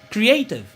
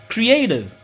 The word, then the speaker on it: creative: Eh bien ti max ça veut dire et il a prononcer plus fort que ni cri, que ni tev. Donc mot ça n'a dit creative ou sinon creative.